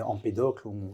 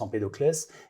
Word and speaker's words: Empédocle: avec un un monsieur qui s'appelait Empédocle parfois on prononce empédocles et qui étudiait les